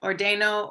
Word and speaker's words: ordeno: For ordenar, is it, or when you are pronouncing it, like, is it ordeno with the accent on the second to last? Second to last syllable. Okay, ordeno, ordenas.